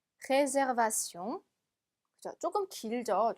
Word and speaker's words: réservation: 영어하고 단어 생긴 거는 악상 하나만 빼고 똑같은데 발음이 조금 다릅니다. réservation, réservation.